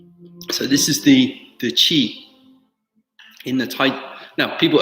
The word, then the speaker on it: qi: good slightly the cheat when we talk about Chi in the pinyin is spelt Qi right tingling little warm correct